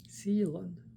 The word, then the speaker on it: Zealand: Two syllables, Mr. May. Zealand.